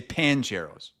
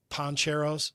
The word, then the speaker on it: Poncheros: But a lot of people say pancheros. I might say pancheros. My dad wanted to kill me growing up because I said pancheros. Drove him crazy. Is there a proper way to pronounce the name of the burrito joint? Yeah. Poncheros. Poncheros.